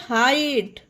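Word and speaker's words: height: ई आई जीएसटी एट एच ई आई जीएसटी हाइट एल आई जीएसटी लाइट बी आर आई जीएसटी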